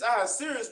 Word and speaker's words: Ahasuerus: Is that how you pronounce it, sir? Right. This is Ahasuerus which reigned from India, even unto Ethiopia, over 107 provinces.